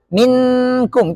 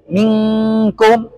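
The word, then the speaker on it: منكم: Nunnya kan nggak nampak. Kalau nampak dia izhar. Seperti minkum. Itu salah. Karena dia nampak. Namanya izhar. Bukan ikhfa. Maka di sini kata yang nampak disebut dengan ikhfa. Bacanya minkum anta.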